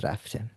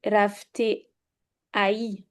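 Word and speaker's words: رفته: But you don't pronounce it. You do not pronounce it. You never say Okay. khorde or rafte. It is just khorde and rafte. Let's. No, but the alif, you don't pronounce. For example, you would never say rafte ai.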